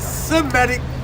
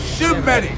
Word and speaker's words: Semitic: let me say this it's not Semitic it's symmetic and then if you want